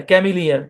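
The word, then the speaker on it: cameleer: ক্যাম ই লিয়ার, ক্যামিলিয়ার। এই শব্দের উচ্চারণ কি? ক্যামিলিয়ার।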